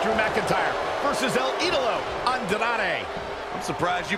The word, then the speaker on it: Andrade: The Scottish psychopath Drew McIntyre versus El Idolo Andrade. I'm surprised you pronounced that right, Cole.